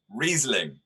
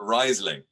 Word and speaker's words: Riesling: my book and then everybody was saying riesling not riseling and vyonye not viognia